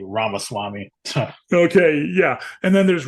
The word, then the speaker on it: Ramaswamy: If you pronounce it, Ramaswamy.